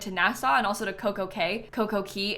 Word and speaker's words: CocoCay: It's technically called Coco'Key', but it's spelled Cay like C-A-Y, but Royal Caribbean calls it Perfect Day at CocoKay, So I don't know how you're supposed to say it. They say CocoKay, people that know about